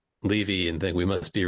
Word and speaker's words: Levy: Now, you might hear that name, Levy, and think we must be related. Well, let me tell you, I pronounce it Levy.